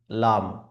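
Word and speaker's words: لام: এই লামের ক্ষেত্রে আমাদেরকে 3 আলিফ বরাবর টেনে পড়তে হবে। লাম, লাম। অনেকে লামকে পড়ে থাকে এইভাবে লাম, লাম। তাহলে এইভাবে যদি পড়ে তাহলে ওই উচ্চারণটি সঠিক হবে না, উচ্চারণটি ভুল হবে। এই জন্য সঠিকভাবে পড়ার জন্য মুখটিকে খুলে পড়তে হবে।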